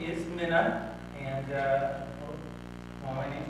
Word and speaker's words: Minne: an A but the E is correct it's just like Minnesota right say the state of Minnesota you can say my name but no my middle name is not soda it's just Min I was born in